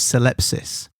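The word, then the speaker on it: syllepsis: There's something known as celepsis which is s y l e ps i spsis.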